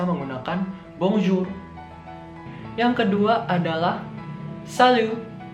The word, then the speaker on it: salut: Yang kedua adalah salut. Salut. T-nya di sini tidak dibaca ya. Jadi bacanya cuma salut.